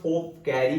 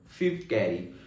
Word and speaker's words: Phoebe Cary: कभी कभी कहीं पर फोर्थ कैरी बोला जाता है, लेकिन करेक्ट प्रोनाउंसिएशन है दोस्तों फिफ्थ कैरी।